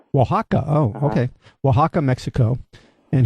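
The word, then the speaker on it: Oaxaca: Oax Waka. Waka.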